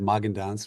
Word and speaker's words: Magendanz: My name is Magendanz. Rhymes with Hagendas.